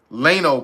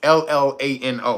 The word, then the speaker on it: Llano: McDonnell Douglas McDonnell Douglas Lano plant. It's Llano. I guess that's how you say it.